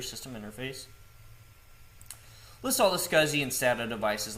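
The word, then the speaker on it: SCSI: So ls ssi pronounced as scuzzi which stands for small computer system interface. List all the scuzzy and stat devices like hard drives and optical drives. So let's do an ls scuzzy on our virtual machine.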